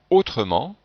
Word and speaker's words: autrement: avant le par exemple dans le mot autrement et bien devant le il ya deux fonctionnent et ici si je ne prononcerai pas le e on aurait trois consonnes le thé le 1er et le n change aucune voyelles ce serait impossible à prononcer c'est la même chose